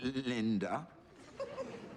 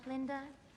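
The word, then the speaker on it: Galinda: some of us still tend to favor form over content, Miss Linda. Oh, actually, it's Linda, with a G.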